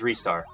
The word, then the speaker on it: Ristar: Or is it Ristar? Well, officially, if you are in Japan, it is Ristar.